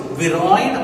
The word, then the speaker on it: viroid: or dna now viroy we can uh pronounce it this way viroid or pyroid anyway we can pronounce it both are correct now it means yes